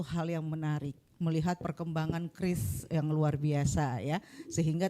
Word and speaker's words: QRIS: Jadi kris ini kita baca kris seperti kita menyebutkan senjata khas tradisional Indonesia, kris tapi tanpa jadi kris.